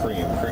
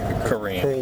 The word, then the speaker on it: Kareem: not cream. Kareem.